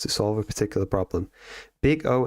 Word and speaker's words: Big O: Big O analysis pronounced big O, not big zero.